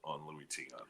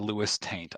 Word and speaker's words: Luis Tiant: So that's the long story on Louis Tiant. So we should point out that one time when he first said Lewis Taint, I initially thought, okay, that's terrible, but it's probably a slip of the tongue.